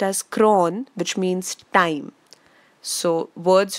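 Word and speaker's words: chron: chrome which means color CH ro n is pronounced as cron which means time so words from chrome are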